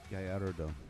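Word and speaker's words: Girardeau: I think it's called Cape Gallardo. Oh, that's Gallardo. Yeah. I can never pronounce it.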